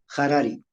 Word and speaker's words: Harari: Harari el apellido está con H, pero se pronuncia Harari.